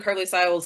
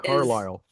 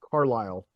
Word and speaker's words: Carlisle: so all of that, and also just like Anne Carly Siles acting And is Carlisle. hmm? Carlisle. Carlisle. Did I Yes, write it ma'am. down wrong? No, the S is silent.